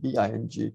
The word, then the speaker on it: Bing: And we will see this particular symbol, which is called the Bing, B-I-N-G, is pronounced as Bing.